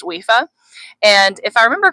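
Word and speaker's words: Aoife: It's an old Irish name and it's pronounced wifa.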